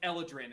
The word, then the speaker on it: Eladrin: Like not throw it at him, but like shove it forcefully across the table at Relic and be like, it's pronounced Eladrin, and I'm gonna like grab the rest of my food, get up, and walk away.